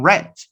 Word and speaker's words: read: it in past but you change the pronunciation red read red notice the spelling is the same but the pronunciation is different and the second red is an homophone of the color no the color red